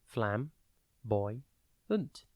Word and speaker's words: flamboyant: It is pronounced flam, boy, unt, and spelt F-L-A-M-B-O-Y-A-N-T. Think flam, flame without the E, boy, B-O-Y, and then ant, A-N-T.